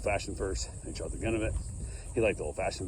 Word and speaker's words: Glenlivet: How you pronounce it? Glenvielt or something. Glenlivet.